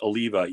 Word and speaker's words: Eleva: I believe it's pronounced Eleva, Eleva.